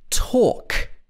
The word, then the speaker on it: talk: have a silent h l is another sound which is often silent especially before k and before f at the end of the word for example walk i'm going for a walk talk i talk to my